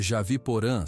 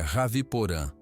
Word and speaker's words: Raviporã: É Javiporã, certo? Poti sorriu fracamente. Quase isso. É Raviporã.